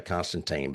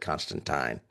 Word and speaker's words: Constantine: I always want to say Constantine, but they said Constantine.